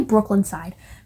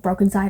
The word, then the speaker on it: Broken Side: route like fans of I always say Brooklyn Side. Fans of Broken Side also like, by the way, it's spelled with a Y. Broken, SYDE.